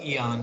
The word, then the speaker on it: Eon: Oh, I was just going to say that my name's pronounced Eon, like the period of time.